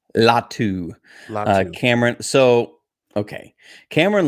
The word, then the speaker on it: Latu: Are you excited about Cameron, and what's the pronunciation? Latu.